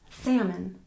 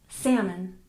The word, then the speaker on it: salmon: good number 18 salmon we don't pronounce that L and we stress the first syllable salmon salmon number 19 vegetable we